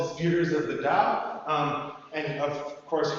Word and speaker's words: dao: Um the way or dao sometimes translated or the earlier romanization is tao but it's still just pronounced uh da uh as on the